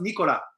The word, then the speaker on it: Nicolas: know if nicola because in france it's pronounced nicola nicola right but i think